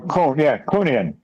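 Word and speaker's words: Kuhnian: Now, Mike, how do you pronounce this again? Kunian? Yeah, this is, where is it? Oh, Kunian.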